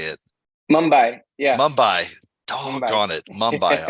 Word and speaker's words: Mumbai: Mumbai.